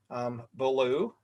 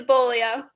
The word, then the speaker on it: Bolio: It's Bolio. Bolio, and I knew I probably said it wrong, right?